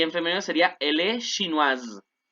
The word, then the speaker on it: chinoise: femenino sería, elle est chinoise. Acuérdense, como hay una S en medio de dos vocales, suena como Z, como el zumbido de abeja. Il est chinois, elle est chinoise.